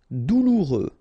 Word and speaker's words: douloureux: Douloureux, remember, final X not pronounced, so you get this OU together, ou, douloureux, douloureux.